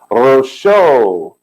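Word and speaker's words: ראשו: Rosho. Rosh, that's head. And the O sound at the end is the added vav.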